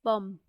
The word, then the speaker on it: pomme: So apple in French it's pronounced as pomme.